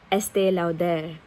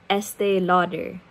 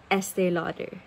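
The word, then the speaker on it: Estée Lauder: have pronounced it as estee lauder I mean I'm not wrong technically because it is French it's still out there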